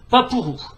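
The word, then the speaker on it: パープル: Et violet en japonais se prononce papuru.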